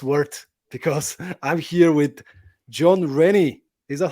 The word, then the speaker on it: Jon Rennie: the wait was worked because I'm here with John Rennie is that how I pronounce it John yeah that's it yeah you